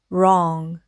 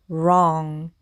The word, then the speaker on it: wrong: 응 해서 받침 소리 이응 소리로 나죠. 그래서는 응 해서 로응 이렇게 발음을 하셔도 되고요. 이것이 조금 어렵게 느껴진다 하시는 분들은이 응소리를 받침으로 넣어서 wrong 이렇게 읽으셔도 되겠습니다.